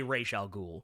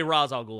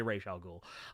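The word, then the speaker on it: Ra's al Ghul: I say Ral Ghoul. So there you go. Uh I don't say Razal Ghoul, I say Ray Sha Ghoul.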